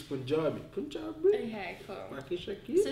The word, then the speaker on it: Punjabi: It's Punjabi.